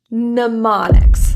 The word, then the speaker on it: mnemonics: M is typically pronounced, except in this word, mnemonics. That's the first M.